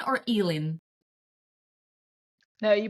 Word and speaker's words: Elin: am I pronouncing your name right is it Ellen or elen no you pronounced it perfectly ah okay it's Ellen I'm always conscious about people's name because believe